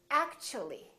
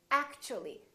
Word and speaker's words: actually: again they change so when the t is followed by a u for example in the word actually we don't say act to we don't say Act the T becomes kind of a CH sound so we say actually actually so the T and U create a new sound and it sounds kind of like CH let's try a few